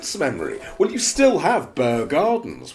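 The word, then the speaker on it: Bear Gardens: Well, you still have Burr Gardens, which is the Burr. B-E-A-R, Bear.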